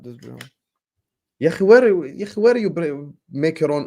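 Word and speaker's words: Dewsbury-Hall: Stop calling him Shrewsbury Hall. His name is Dewsbury Hall. No. D-E-W. No. Shrewsbury Hall. Not Dewsbury Hall.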